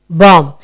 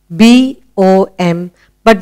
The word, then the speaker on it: bomb: Bomb. You only hear B-O-M, but we do not hear the B.